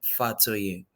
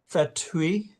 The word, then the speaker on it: Fatoye: It's just like Fatoy. Yeah. Fatoy. One step further. Why don't you just spell it for the record, and then I'll swear you, and then you can give me your comments.